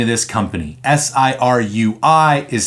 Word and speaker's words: Sirui: And yes, if you're curious, that's how you pronounce the name of this company. Sirui is Sirui.